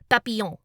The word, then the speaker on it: papillon: French word for butterfly, papillon, which is spelled with two L's making the y sound instead of a y because, French.